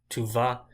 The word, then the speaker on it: tu vas: Tu vas, you can't really hear an S.